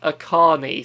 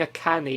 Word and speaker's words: Akane: super mario bros akane so that game is pronounced akane so i was saying a canny or something yeah akane okay